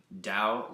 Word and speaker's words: Tao: t t AO and it's actually pronounced with a d Dao like DST and the